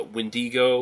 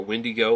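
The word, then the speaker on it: Wendigo: of the myth of the uh windigo or windigo whichever way you want to pronounce it which is sort of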